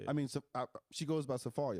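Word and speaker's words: Safaria: that i went through sephora how do you spell that it's s-a-f-a-r-i-a like safari with a yeah but it's pronounced safari yeah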